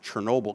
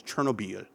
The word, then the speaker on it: Chernobyl: me a long time to pronounce it Chernobyl because I was in France so it was always Chernobia to me it's like so wacky people said Chernobyl I was like I don't get it.